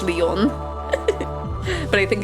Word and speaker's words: Lion: Yeah, it's really weird that it's spelled lion, but it is pronounced Leon.